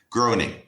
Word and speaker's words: Groening: Matt Groening. Groening, I think. I think it's pronounced Groening.